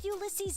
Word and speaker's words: Ulyses: Why would Ulyses know anything? That's how his name is pronounced. Ulyses.